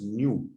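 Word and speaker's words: ν: The symbol is nu, that is actually pronounced as nu, pronounced as nu, and the SI unit is per second, second inverse, or it is also called hertz.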